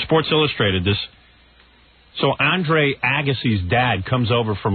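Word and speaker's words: Agassi: I was sick uhhuh why are you mispronouncing his name lately ausy yeah okay Andre Andre Agy it's really Agy I don't think I'm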